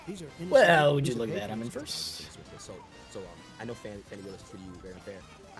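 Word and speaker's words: Fani: She goes by the name of Fannie, even though it's F-A-N-I. She wants to pronounce Fannie.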